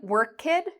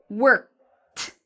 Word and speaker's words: worked: So instead of saying worked, I would say worked, worked.